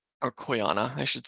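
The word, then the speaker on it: Quyanaa: like hello or welcome then there's the phrase kuyana or koyana I should say which means thank you and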